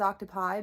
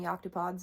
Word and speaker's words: octopods: the plural for octopus I always thought it was octopi but evidently octopods is the correct way to say it octopods by Nature are